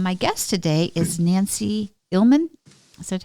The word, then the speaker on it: Illman: that said um my guest today is Nancy ilman is that how you pronounce it Nancy your last name it is